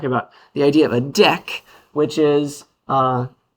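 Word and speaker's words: deque: but you pronounce it deck. It's like the word Q almost. It's like a cousin. So, that's why you pronounce it with a French kind of pronunciation.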